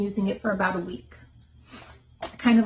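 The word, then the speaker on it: OUAI: great brand and that's we and that's o u AI it's pronounced we it's their leave-in conditioner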